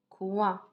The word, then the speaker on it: coin: Comment je prononce O-I-N? Ouin. Ouin. Comme par exemple, pointure. Comme par exemple, coin.